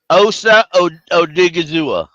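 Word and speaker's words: Osa Odighizuwa: $24 million if you properly pronounce Osa Odigizua. Osa Odigizua.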